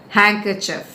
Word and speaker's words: handkerchief: get it right so there are three syllables and the first syllable is to be stressed Hank kerchief handkerchief the nurse swiped her